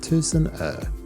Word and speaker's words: Tusenö: Tucson means a thousand and er means Ireland pronounced as Tucson ER the team and watch hails from a place